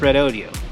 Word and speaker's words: Redodo: red Odio 12vt lithium battery and yes it's pronounced red Odio they emailed us and told us this video